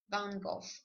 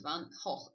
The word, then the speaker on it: van Gogh: Of course, you know, this is a Vincent van Gogh or Vincent van Gogh, as Dutch people would say.